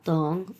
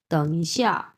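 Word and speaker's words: 等: এটা হচ্ছে তং এবং অবশ্যই এটা তিন নাম্বার টন।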